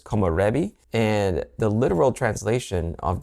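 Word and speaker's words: 木漏れ日: One of the words is a Japanese word, and I'm probably going to say it wrong, but it's komorebi.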